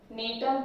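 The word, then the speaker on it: Gnetum: देख, नेटम जी silent, नेटम ephedra and वेल्विस्ट्रिया.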